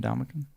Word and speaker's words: Ndamukong: There's no G.